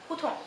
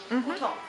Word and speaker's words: hutong: Mongolian people pronounce this word very short and very quick as Hutong. Hutong.